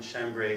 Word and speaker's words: chambray: She moved the sack again, and a button burst from her worn chambray shirt. Is that how you pronounce that? Yep. Chambray?